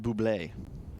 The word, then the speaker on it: Bublé: Well, I believe it's pronounced Buble. Buble. That is the proper origin pronunciation.